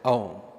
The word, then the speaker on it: Aum: We always begin our sessions with the divine chanting of the primordial mantra, the Bija mantra called as Aum. The three-syllable A-U-M, they represent the three dimensions, the states of consciousness, Jagrat, Swapna, Sushupti.